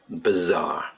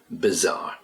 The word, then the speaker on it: bizarre: Bizarre. Okay, it's spelled B-I, but we pronounce it bizarre.